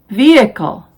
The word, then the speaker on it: vehicle: spellings who whose whole the h is silent in these words our honest honor air oh vehicle exhausted exhibit rhyme rhythm some common expressions are